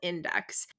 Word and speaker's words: Indyx: decluttering and organizing using the app called Index. It's spelled INDYX.